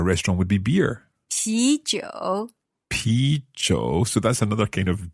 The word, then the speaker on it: 啤酒: 啤酒 Pi zhou. So that's another kind of zhou. And pi, I guess it sounds a little bit like beer. Yes, it precisely. We'll borrow the pronunciation of beer and then you translate